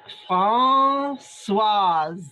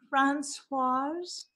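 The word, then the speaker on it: Françoise: I want to tell you it's pronounced Francoise. Okay, I was a little concerned that I'd be saying it in a different way. Francoise.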